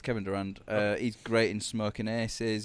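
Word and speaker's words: Kevin Durand: Yeah, it's Kevin Durant.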